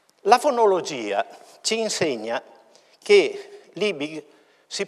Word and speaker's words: Liebig: una i lunga e la IG finale che diventa una H con articolazione fricativa alveo palatale sorda quindi una volta per tutte lib questo valga come scusante